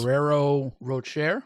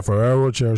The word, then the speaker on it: Ferrero Rocher: Shout out to how you pronounce this. Ferrero Rocher. Yeah, Ferrero Rocher.